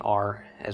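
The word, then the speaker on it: ר: But anyway, in modern Hebrew, it's simply pronounced as an R, as we think of an English R. Although it would be the Midwestern pronunciation of an R, not the Great Britain, New York, or any other dialect's pronunciation. It doesn't become oi. It doesn't become ah. It's actually ra.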